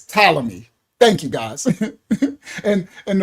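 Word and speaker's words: Ptolemy: Um, it's pronounced talamy. Oh, talammy. Thank you. Thank you for that. Well, yes, correct me. Yes, I keep saying flaty cuz I'm a Hebrew.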